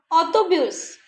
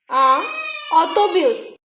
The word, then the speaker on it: autobus: Fish, fish, autobus, autobus, le tennis, le tennis. Here we are pronouncing the letter S also.